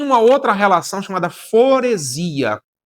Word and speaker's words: foresia: E uma outra relação chamada foresia. Foresia se escreve com S, não é com Z, apesar da pronúncia soar com Z.